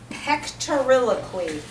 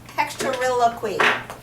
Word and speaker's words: pectoriloquy: And then the third one is called whispered pectoriloquy. Good word, huh? Pectoriloquy. I'll spell that.